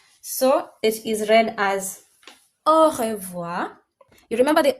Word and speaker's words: au revoir: So it is read as au revoir.